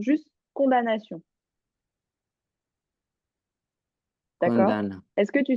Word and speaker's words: condamnation: Conda- Condamnation. Alors, ce mot-là, il y a un piège. Il s'écrit comme ça, mais il se prononce sans le M. Il se prononce juste condamnation.